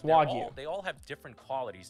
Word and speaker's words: Wagyu: It's pronounced Wagyu. It's Wagyu.